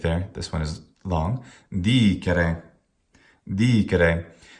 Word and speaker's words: dicere: Dicere. Pardon the mistake there. This one is long. Dicere. Dicere. How could we pronounce this incorrectly?